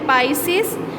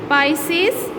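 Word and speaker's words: Pisces: पहला है पाइसेस, pronunciation सही करें, पाइसेस, एम्फीबिया, रेप्टाइलिया, एविस, मेमालिया।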